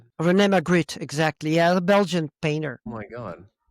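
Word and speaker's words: René Magritte: Is that how you pronounce it? Renee McGrit.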